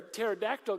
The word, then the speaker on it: pterodactyl: question you know like why can't you hear a pterodactyl go to the bathroom the p is silent oh it's so good